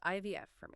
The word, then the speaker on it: ivf4me: That's pronounced IVF for